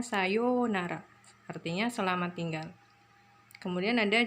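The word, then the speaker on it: さようなら: Yu-nya panjang, sayonara. Tulisannya sayonara tapi dibacanya sayonara.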